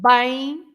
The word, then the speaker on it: bem: Because there is a nasal sound when the M has a vowel before it at the end, right?